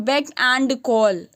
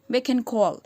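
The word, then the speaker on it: beck and call: सो एंड को हम ऐसे नहीं, बेक एंड कॉल नहीं, अच्छे एक्सेंट वाले इसको कैसे बोलेंगे? बेकन कॉल। तो एंड को एन बोलेंगे, बात समझ में आ रही है?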